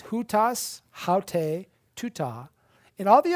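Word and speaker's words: οὗτος: To say the word this, the word is hutas in the masculine, haute in the feminine, and tuta in the neuter.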